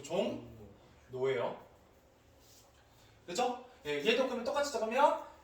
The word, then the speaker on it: 종로: 뭘로 얘가 예시 보여드릴게요 종로 어떻게 바르면 종로 근데 여러분 종로라고 발음을 자꾸 나오는데 그러지 마시고 종 노웨어 그죠 얘도 끄면 똑같이